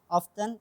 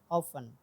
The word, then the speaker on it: often: Oh, Often mean you have to omit The T. the letter T. Yeah, Oh. the letter T, because it's including the lesson of American T. So in an American T, that if you have T letter in the middle of the word, so you have to try to omit it.